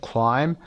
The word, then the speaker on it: climb: و بیش هم تلفظ نمیشه، تلفظش رو هم آورده. climb.